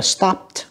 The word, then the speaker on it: stopped: Và câu đi chúng ta đọc là stopped, cũng là âm tờ, tại âm cuối của nó là một âm câm, tức là âm pờ.